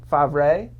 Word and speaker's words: Favre: one is flo from sam favre yeah i agree that that is the correct pronunciation really tried to do